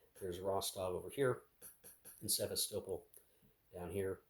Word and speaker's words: Sevastopol: But more realistically, there's Rostov over here and Sevastopol down here, or Sevastopol, depending on your pronunciation, but I think I have heard it from people as Sevastopol, from those who live near it, so or have lived near it.